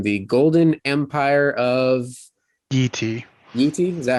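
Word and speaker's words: Yi Ti: Yeti? Is that how you pronounce it? Okay. Yeah, Yeti.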